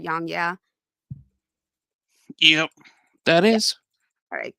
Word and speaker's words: YongYea: YongYea?